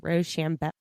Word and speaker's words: Rochambeau: Not shoe, but sham. Rochambeau.